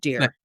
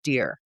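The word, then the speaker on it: Dier: I had mentioned to a friend that it's pronounced Rob Deer. Okay. That is how his last name is spelled D-I-E-R. I just assumed it was Deer, and then... I would think Dyer based on that. My friend said Dyer, but when I met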